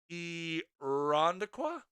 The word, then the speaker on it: Irondequoit: It's pronounced Irondequoit.